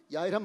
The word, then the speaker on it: 야훼: 우리 순복음은 이제 원로 목사님의 신학 속에서 원문을 이렇게 해석해 보면 여호와라는 발음보다 야훼라는 발음이 훨씬 가깝다.